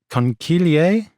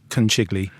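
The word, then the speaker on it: conchiglie: Uh concilier, which I always want to call kiggli. No, it's it's a hard C in the middle.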